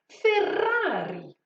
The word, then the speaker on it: Ferrari: airs comme le moteur de ces fameuses voitures ferrari ok ensuite la dernière marque que j'ai choisi